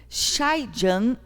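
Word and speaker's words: Schleiden: A observação de que os seres vivos estudados até aquele momento eram constituídos de células levou Feldman e Schulman, pronuncia-se Scheijan e Chavan, dois cientistas alemães, a propor em 1838 a seguinte teoria celular.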